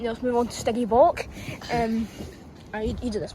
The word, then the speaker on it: Stygimoloch: You know, let's move on to Stygimoloch.